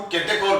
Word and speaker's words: catechol: जैसे ये है, तो इसको हम केटेकोल बोलते हैं बेटा। क्या बोलते हैं, CATE, केटेकोल, CATECHOL, स्पेलिंग यही है, CATECHOL, केटेकोल।